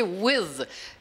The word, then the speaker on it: with: Então, esse é o TH brando, with, with. Não é com D. O D seria with. Não é, é with. Tem que assoprar um pouquinho.